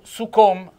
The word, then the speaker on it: succom: Poi concludo con succom, tessien succom, con la O chiusa, accento tonico sulla O, è il testardo e anche il duro di comprendonio.